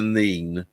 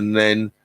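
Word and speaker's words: Nene: The further you go down the river, then it suddenly changes to the Neen. But at Northampton, they pronounce it the Nen. When you go down river, it changes to the Neen. Peterborough. At Peterborough, it's definitely called the Neen at Peterborough,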